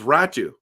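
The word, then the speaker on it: Räty: It's Ratu. Ratu, and I know it's spelled Ratty, okay?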